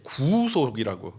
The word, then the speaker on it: 구속: 오늘 어떤 목사님이 또 구속을 짧게 하면 안 된다고 발음을 길게 구속이라고 해야 된다고 이렇게 알려주셨는데 짧게 하면 감금 구속당하는 거 그게 감옥가는게 구속이고 구속하면 하나님의 구원 우리의 죄를 속하시는 그 구원을 말한다 이렇게 알려주셨어요 구속의 유익을 전달해 주는 수단이